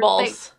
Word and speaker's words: burble: Burbles. It burbles like the other stuff. I like your choice of word. Burble. It like burble bubbles. It rhymes with gerbil.